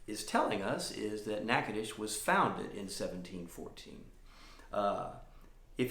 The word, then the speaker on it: Natchitoches: It is a town in North Louisiana, and it's pronounced Natchitoches, not Natchitoches or Natchitoches, but Natchitoches.